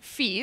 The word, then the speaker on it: Phi: kind of awesome now Phi is sometimes pronounced fee by pretentious mathematicians trying to make everyone